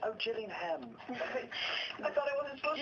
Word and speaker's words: Gillingham: I was like, Gillingham, please. Because I figure it's like, like Leicester, like Nottingham. You're not supposed to pronounce all of the syllables.